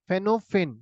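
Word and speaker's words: Phnom Penh: फेनोफेन, ये पी जो है साइलेंट है।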